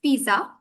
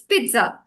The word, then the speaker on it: pizza: another one that's here it's pizza it's it's not pizza though uh like it's pizza right even though there is no T in the word itself but we pronounce it uh as it we we say it as pizza so there it is